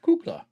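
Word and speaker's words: кукла: A Kukla? It's Russian for doll. Oh, I'm saying that wrong then. Hold on here. Hold on here. Hold on. Kukla. Kukla. Kukla. Okay, I was saying it right. Kukla.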